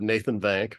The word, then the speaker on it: Nathan Vank: have a super awesome guest here today have Nathan van from Iron Yun do I pronounce that right I always ask on this